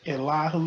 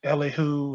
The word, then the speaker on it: Elihu: This is your brother Elihu, the advocate. Some folks might call it or pronounce it Elihu, and that's fine as well.